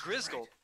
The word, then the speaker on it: Grisghoul: Oh, A that's Grisghoul. right. A Grisghoul is How do you spell that, by the way? Gris, like Greece, Grisgol.